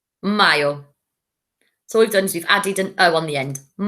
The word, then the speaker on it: mayo: Mayo. Mayo. So what we've done is we've added an O on the end. Mayo. Listen to the pronunciation. We don't say mayo, we say mayo.